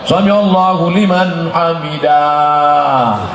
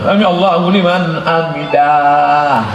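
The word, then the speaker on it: سمع الله لمن حمده: Kalau kemudian selesai itu, kebetulan sholat subuh, Sami Allahu liman hamidah. Bacanya pendek, Sami Allahu liman hamidah. Ini ada yang imamnya panjang, Sami Allahu liman hamidah.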